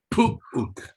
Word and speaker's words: puuk: Es uk. Puuk. Ahí vas. Es pu. Puuk.